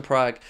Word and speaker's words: Praha: Sparta Praha are the is the correct colloquial, if that's the right word, pronunciation. But I just know them as Sparta Prague.